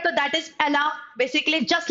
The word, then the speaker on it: Allah: So how do you pronounce Allah? Allah. Just like someone. You must have heard song of Rihanna. बहुत famous song है बच्चा Rihanna का. Like it was Umbrella. So umbrella, Allah, Allah, Allah.